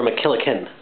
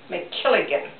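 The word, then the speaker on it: MacKilligan: Was it McKilligan or McKillican? McKilligan. McKilligan, okay. I've been saying it wrong all these years.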